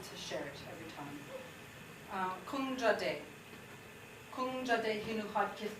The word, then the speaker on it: Kung Jaadee: Kung Jaadee. Kung Jaadee hinu had kith kadikya. So my Haida name is. Can you all say Kung Jaadee? Kung Jaadee.